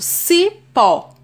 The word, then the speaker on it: cipó: Eu tenho esse exemplo, cipó. A sílaba tônica é pó. É a última sílaba atônica, logo vai ser uma oxítona.